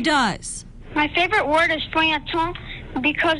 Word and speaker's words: feuilleton: My favorite word is feuilleton because it's spelled so differently than it's pronounced.